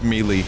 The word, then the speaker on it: melee: good please tell me no one pronounces the word melee as melee cuz I did that